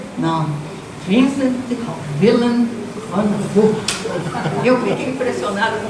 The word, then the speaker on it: Vincent Willem van Gogh: Pela pronúncia em holandês? Não. Vincent Willem van Gogh.